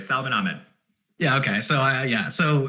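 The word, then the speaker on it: Salvon Ahmed: would be like uh salvan ahmed is that how roughly how you say it right you said it exactly right salman ahmed yeah okay so yeah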